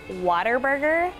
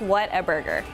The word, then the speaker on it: Whataburger: We've heard Waterburger, like with a T, like Waterburger. We've also heard Whataburger with a D as well, but it is pronounced Whataburger.